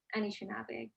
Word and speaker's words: Anishinaabe: Anishinaabe, Anishinaabe.